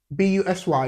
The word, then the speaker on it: busy: You would most likely find it unbelievable, but letter U in the word B-U-S-Y is pronounced busy. So it's the it sound, busy, business, yeah.